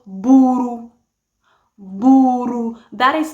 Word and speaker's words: buru: Okay, so they're all spelled as B-U-R-U. Buru, buru. Now let's look at the Luo of Barakazal, shall we? The Luo of Barakazal, spell it as B-U-R. Bur. That's just how I pronounce it, bur, because there's no ru, buru, there's none of that. And I think most of